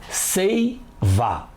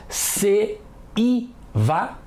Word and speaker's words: seiva: Dá para falar se-i-va? Seiva. E I são pronunciadas juntas, certo? Se-i-va. E I são pronunciadas separadas, errado. Se-i-va. Ninguém fala assim, não é?